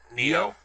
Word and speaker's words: Nioh: the play as Rapp has with how's it pronounced new video neo so it sounds like neon or or neo